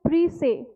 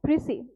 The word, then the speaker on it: précis: it is called as précis. Okay, this word has been derived from a French word. Okay, so S is silent over here and we pronounce it as précis.